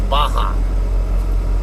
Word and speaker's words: Barra: up in Victorville, Gracie Baja, Victorville. English speakers, it looks like Barra, B-A-R-R-A. It's Baja. Portuguese speakers, when they pronounce the letter R, they tend to pronounce it like a letter H.